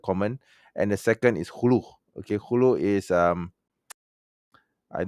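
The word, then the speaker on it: خلع: It's not khula, it's khulu. Okay, pronounce it wrong. Okay, it's called khulu.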